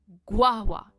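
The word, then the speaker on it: guava: गुआ। स्ट्रेस गुआ पर है। ग्वावा।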